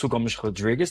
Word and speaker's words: Afonso Rodrigues: So, first of all, my name is Gome Rodriguez. So, that's the Portuguese pronunciation of my name.